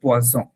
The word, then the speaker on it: poison: হ্যাঁ বলতে যাচ্ছিল কিন্তু পোয়াসন, কিন্তু বলে ফেলছে পোয়াজন। জাস্ট একটা উচ্চারণের জন্য জিনিসটা পুরো উল্টে গেছে।